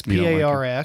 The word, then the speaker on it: Parx: It's just because in my head I see Parx and I think P-A-R-K-S. Yeah. And it's pronounced the same, correct?